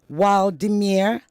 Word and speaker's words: Wladimir: His name is Wladimir. Vladimir, did I pronounce that correctly? Yeah, you pronounced it correctly. Oh, wow. Is the W a V sound or a W sound? It's a W sound.